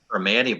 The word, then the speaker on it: Primanti: Primanti Brothers.